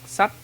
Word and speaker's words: sách: But any words that start with S like in sun or song in English, will pronounce sh, as in shock or in shy in English.